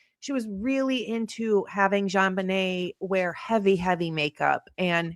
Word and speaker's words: JonBenét: listen to the name, JonBenet, which was actually supposed to be pronounced Jean Benet.